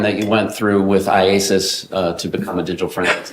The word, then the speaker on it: IACIS: IASIS, yes.